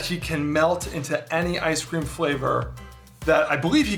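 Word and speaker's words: Eye-Scream: actually the weirdest one it's ice cream it's spelled e-y-e scream and if you think that that might be like an eye reference no it's it is an ice cream reference the the guy's power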